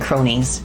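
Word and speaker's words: Kronies: her fans they're called they're called cronies you know like like uh like with a c but it's spelled with a k one block above you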